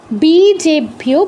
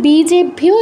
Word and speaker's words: বীজেভ্যো: হলভ্যো উইজেভ্যো বীজেভ্যো, বলেছি বীজ, বীজ শব্দটা বর্গীয় ব, তো এখানে বীজেভ্যো এটাও বর্গীয় বই হবে। মানে এখানে যতগুলো ব পাচ্ছি বেশিরভাগই আমাদের বর্গীয় বই পাচ্ছি, মানে বাংলা বয়ের মতোই উচ্চারণটা হবে।